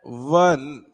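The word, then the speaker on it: one: अब इसका प्रोनाउंसिएशन कैसे होता है? वन व। क्या ये आई में फंसता है क्या? नहीं, नहीं फंस रहा है, इस वजह से हमने क्या लगाया?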